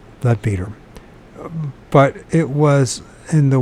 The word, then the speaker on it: Leadbeater: in the book of Leadbetter, or Leadbeater, depending on which you pronounce it. Better, I guess it's Leadbeater.